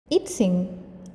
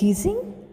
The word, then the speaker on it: I-tsing: I-tsing, also pronounced as Yijing, I-tsing, I-tsing was a Chinese Buddhist monk and traveler of the 7th century CE.